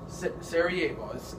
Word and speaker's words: Sarajevo: the king is he goes to Sarajevo okay sarajebos that's how it's pronounced so Franz Ferdinand goes there June 8 28th excuse me 1914.